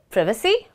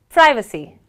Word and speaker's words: privacy: complicated ones is it privacy or is it privacy well the British pronounce this word as prevy however the Americans stress on the I and they say pracy